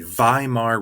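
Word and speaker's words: Weimar: there's something called the vie Mar Republic remember in German the W's are usually pronounced as V's so the Vimal republic germany's new democratic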